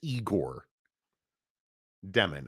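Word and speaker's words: Egor Demin: so I think oh did I get his name wrong it's it's eigor demon I apologize demon um I mean that's a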